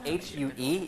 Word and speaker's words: Hue: Hue was a former capital of Vietnam, and it's spelled H-U-E, even though it's spelled H-U-E, but it's pronounced as Hue, and that was the Hue Palace in Vietnam.